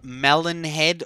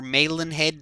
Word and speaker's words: Malin Head: this little area is called melon head or melon head depending on how you want to pronounce that and it's actually